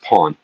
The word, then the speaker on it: Porn: And it's pronounced pawn. But it's spelled porn.